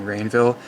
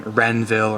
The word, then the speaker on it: Rainville: mispronouncing it every time i say my last name rainville people think I'm saying renville or grain villa makes apparently my enunciation